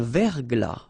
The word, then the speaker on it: verglas: Un verglas, final S not pronounced.